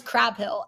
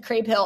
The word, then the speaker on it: Crabill: it's so funny because I thought it was Crab Hill and then she said crabill on the show last week I was like oh my gosh rip I've been saying it wrong um she's actually amazing